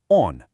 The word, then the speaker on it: он: First up, we have masculine, which uses the pronoun on.